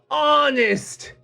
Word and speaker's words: honest: tsunami t is silent honest h is silent island s is silent